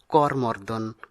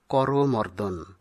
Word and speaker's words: করমর্দন: এটি হবে সঠিক উচ্চারণ অনেকেই ভুল বসে তো আমরা করমর্দন বলে থাকি কিন্তু ব্যাকরণসিদ্ধ সঠিক উচ্চারণ হলো করমর্দন অনুস্বর এই বর্ণটি আমরা